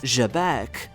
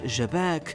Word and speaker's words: Xebec: pronunciation of the word Xebec rather than the English one. So keep in mind it's not pronounced Xebec or Xebec, but with a softer J like in French, though the pronunciation of